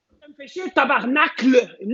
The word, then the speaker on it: Tabarnak: Si on écrit tabarnak, est-ce qu'on peut l'écrire comme il faut, s'il vous plaît?